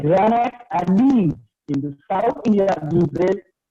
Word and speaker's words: gneiss: यहाँ पे spelling G से start होता है, but G remains silent. Okay, so see the pronunciation of that word is gneiss. So don't say gneiss. It is not gneiss. It is gneiss.